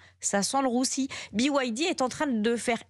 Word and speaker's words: BYD: eux ah oui il va falloir s'habituer à prononcer BYD ça s'écrit BYD pour les auditeurs de ropin